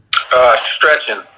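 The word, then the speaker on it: Szczecin: I can't pronounce your team name. How do you say it? Stretching.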